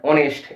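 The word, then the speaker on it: honest: কিন্তু অপর দিক থেকে যে দুটো শব্দ আমি লিখলাম অনারেবল, আওয়ার, অনেস্ট, এই শব্দগুলোর এইচ এর উচ্চারণটা কিন্তু নীরব থাকে, আর সেই কারণে এখানে কিন্তু আপাতপক্ষে আমরা অ্যান ব্যবহার করব।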